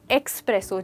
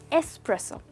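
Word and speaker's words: espresso: मैंने अक्सर लोगों को सुना है कहते हुए एक्सप्रेसो चाहिए, बट दोस्तों इसमें एक्स तो है ही नहीं, इसमें सिर्फ एस है, जिसको हम कहते हैं एस्प्रेसो।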